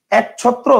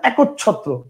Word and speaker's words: একচ্ছত্র: তাহলে এবার বলেন তো এটার উচ্চারণ কি এক ছত্র না একচ্ছত্র বলেন এক ছত্র না একচ্ছত্র একচ্ছত্র না তার মানে কি একের পরে একটা অ আছে হিডেন অবস্থায় আছে দেখা যায় না বুঝতে পারছেন অন্য